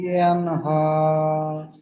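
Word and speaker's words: ينهى: বলেন أعوذ بالله من الشيطان الرجيم بسم الله الرحمن الرحيم أرأيت الذي ينهم আরয় ইয়ানহু, ইয়ান হু নয়, ইয়ান হা, হার উপর খাড়া সাবার, ইয়ানহু। হা খাড়া সাবার, হা উচ্চারণ হয়।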